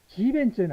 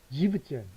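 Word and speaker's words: siebzehn: 그 다음 7도 지벤젠 안 하고 지벤 안 합니다. 지벤젠 하면 발음이 조금 그러니까 지브젠 이렇게 합니다. 발음 편의상 그런 것 같아요.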